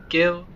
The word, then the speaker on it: Gillingham: So the Gillingham station, obviously, is the one in Kent. But the way to pronounce it on the West of England line in Dorset is actually pronounced as Gillingham. Yes, Gillingham.